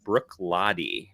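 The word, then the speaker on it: Bruichladdich: i picked up a couple weeks ago it's pronounced brook lottie which i did not think that was how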